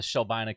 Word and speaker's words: Shelbina: Yeah, we got the Shelbina contingent is hanging out.